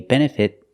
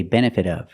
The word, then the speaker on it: benefit: The T in benefit can be pronounced two ways. I can use a stop T and say benefit of the doubt, or because the T